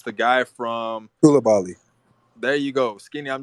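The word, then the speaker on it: Coulibaly: say his name because I don't want to mispronounce it. It's the guy from. Koulibaly.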